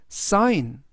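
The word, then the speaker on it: sign: 뜻은 설계하다라는 뜻이 되겠습니다 2번 단어는 사인 사인 인이라고 발음하시면 되겠고요 뜻은 서명하다라는 뜻이 되겠습니다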